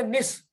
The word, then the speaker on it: निसि: पर स की जो छोटी ई की मात्रा है वो लुप्त रहेगी, उसका उच्चारण नहीं होगा। तो इसको हम पढ़ेंगे निस।